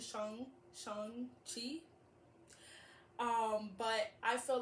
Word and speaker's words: Shang-Chi: But, Sean, with like a G at the end, Shang-Chi.